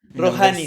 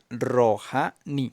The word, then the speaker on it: Rojani: Rohanni. Rojanhani. No, mi nombre se pronuncia Rojani.